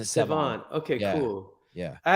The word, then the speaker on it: Sevan: Sevon, yeah, you pronounce it Sevon.